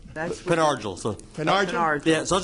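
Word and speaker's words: Pen Argyl: You pronounce it, Penn Argyle. That's the resident. He's sitting right there. All right. That's Penn Argyle.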